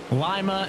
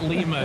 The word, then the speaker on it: Lima: life for singing a city name wrong Lima not Lima so credit to the